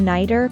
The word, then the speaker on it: nighter: As the sound in a nighter is between two vowels, it's usually pronounced as the fast sound in the American accent.